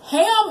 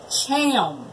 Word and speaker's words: Ham: And then Ham is really pronounced Cham.